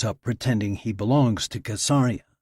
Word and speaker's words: Caesarea: Every Israeli boy grows up pretending he belongs to Caesarea, which they all know is pronounced with a hard C.